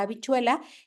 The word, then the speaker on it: habichuela: Entonces aquí va a verse, por ejemplo, en la palabra habichuela, que la H sí va, pero se escribe afuera, ¿no? Porque no tiene un sonido como tal, pero sí se tiene que escribir, ¿no?